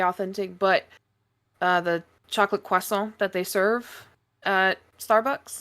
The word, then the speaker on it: croissant: but uh the chocolate Quon that they serve uh Starbucks which by the way that's how you that's how you say it it's not croissant it's cant croissant is the Americanized Quant racetrack pizza is that